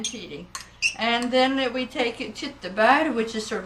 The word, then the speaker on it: tyttebær: And then we take tyttebær, which is sort of like cranberries.